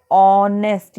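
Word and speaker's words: honest: अब हमने पढ़ा था कि जो ये ऑनेस्ट वर्ड है उसमें हम एच तो साइलेंट रखते हैं और पढ़ते कैसे हैं, ऑनेस्ट।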